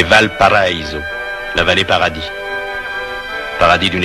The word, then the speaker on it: Valparaíso: Que l'on prononce affreusement à la française, Valparaiso, c'est Valparaiso, la vallée paradis.